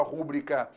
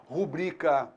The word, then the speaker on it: rubrica: Não existe a palavra rúbrica, existe a palavra rubrica.